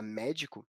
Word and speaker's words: médico: Já a palavra médico, com acentuação na sílaba mé, é uma palavra proparoxítona.